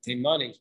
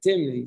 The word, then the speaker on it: Timni: So Shimon Hatimni Omer, so Shimon Hatimni, or sometimes people pronounce it Timani, but it's really in the Masifta Shas they vocalized it as Timni.